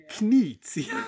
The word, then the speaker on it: Knizia: Knizia.